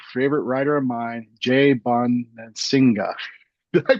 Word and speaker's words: Bonansinga: right it's your favorite writer of mine Jay Bon singga did I pronounced that right J I forgot to ask yeah you did J Bon Singa okay now when did you drop the r